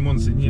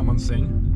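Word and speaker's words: Montseny: На пятый день узнали, что название заповедника произносится не Монсень, а Монсень. Очень важно, по-каталонски.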